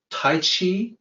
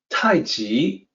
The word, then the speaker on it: Tai Chi: mandated that would be romanized as CH but pronounced with the J sound of course the people